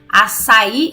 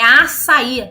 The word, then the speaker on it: açaí: Gente, tem acento no i. Então é açaí, não açaí. As pessoas têm mania de querer dificultar. Se tem um acento, pronuncia com a sílaba tônica certa.